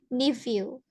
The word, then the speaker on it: nephew: Untuk ini, PH kita ganti dengan F atau V. Nephew.